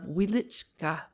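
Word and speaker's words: Wieliczka: famous salt mines of wielichka you must pronounce it with the accent on the second syllable I'll write you from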